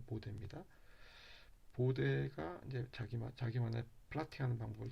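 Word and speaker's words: Bode: 이 보데 독일 사람이라 보드라고 읽으시면 안 되고 보데입니다.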